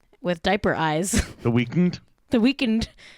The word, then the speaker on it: The Weeknd: The Weeknd. How do you say it? The Weeknd, right? Because he doesn't have it's not spelled weekend.